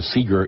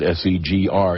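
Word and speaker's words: SEGR: say you say the you say the initials you don't you don't try to make it into a word that's correct gotcha I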